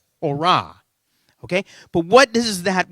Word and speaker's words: Torah: If you were a Jewish individual that knew your Hebrew, it would be Torah. Okay? Like hurrah. That's how I remember it. Torah.